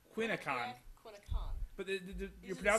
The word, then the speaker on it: Quinni Con: They're part of the group of putting on Quinni Con. I think that's the right way to pronounce it. Yeah. Close enough. Close Quinni enough. Con. What? Quinni Con.